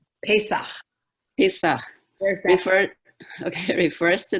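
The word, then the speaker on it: פסח: Pesach. Pesach.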